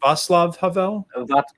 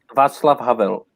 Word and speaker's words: Václav Havel: Václav Havel? Václav Havel.